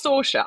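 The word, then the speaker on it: Saoirse: No, well, it's Sorsha. I say Sorsha because I've not got a beautiful Gaelic accent.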